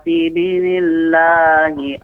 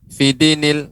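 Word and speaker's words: فِي دِينِ اللَّهِ: Wal fath juga bagus pengucapannya. Wa ra'aitan nasa yadkhuluna fi dinillahi afwaja. Ya, tadi ada yang terlalu kecepatan Pak. Fidinil.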